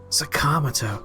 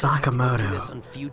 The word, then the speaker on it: Sakamoto: by sakamoto all day sakamato it's sakamoto sakamoto sakamato it's such